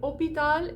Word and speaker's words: hôpital: So a word like hôpital, like we would say hospital, right? There should be an S in that word, but it's been lost over time as the language has evolved. So they say hôpital instead of hospital.